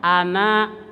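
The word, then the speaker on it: أنا: anak anak di sini enggak boleh dipanjangkan semua huruf Ana itu pendek ya kenapatil Isal kata ulama karena sering diucapkan kata Ana itu jadi dalam bahasa Arab Ana enggak dipanjangkan kecuali wakaf di lafaz itu berhenti di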